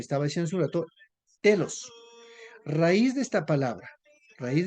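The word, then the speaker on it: τέλος: Pero cuando seguimos viendo esto, pero en realidad la palabra fin en griego tiene su pronunciación que es lo que estaba diciendo hace un rato, telos.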